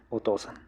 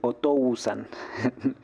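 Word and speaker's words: お父さん: un tip de pronunciación cuando se juntan las las vocales o con la u como en este caso acá la u no se pronuncia y tienen que hacer como si fuera una doble o una o alargada Entonces no se dice otousan suena rarísimo aparte otan se dice por eso se dice otosan otosan no a usan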